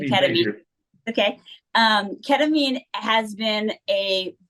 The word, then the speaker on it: ketamine: So first of all, so ketamine, I'll just correct you on the pronunciation, ketamine.